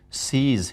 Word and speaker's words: cease: There are some words which are again mispronounced, like precise should be precise, increase should be Increase. increase, cease should be cease. Cease.